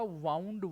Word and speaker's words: wound: होगी WOUND, WOUND, और इसका प्रोनाउंसिएशन क्या होगा, इसका प्रोनाउंसिएशन होगा वाउंड, वाउंड, pronunciation वाउंड, वाउंड।